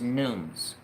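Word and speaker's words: Numees: yes it is nunes it is spelled n-u-m-e-e-s but the way you say it is nunes it's native american for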